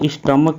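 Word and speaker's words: stomach: तो अगर हम यहाँ स्टमक की बात करेंगे तो स्टमक में भी CH का जो उच्चारण है क से हो रहा है।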